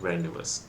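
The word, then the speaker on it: rendezvous: एक secret meeting होती उसको हम लोग कहते हैं रेंस ठीक है क्या कहते हैं उसको नवस जड यहां पर साइलेंट होता है तो क्या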